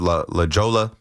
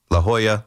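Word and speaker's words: La Jolla: Remember the call where I I don't know, I said La Jola, La Hoya. I know where it is now. I know how to pronounce it now.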